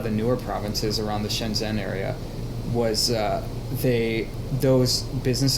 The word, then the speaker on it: Shenzhen: here and there interesting you said near vision Jen area is that how you pronounce it or yeah Shenzhen yeah it's yeah essentially in the Guangdong province